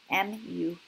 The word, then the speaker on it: mu: This guy is mu, M-U, pronounced as mu.